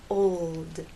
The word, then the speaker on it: old: in the word old old the important thing here is to keep the tip of your tongue pressed against the bump behind your upper front teeth old old it only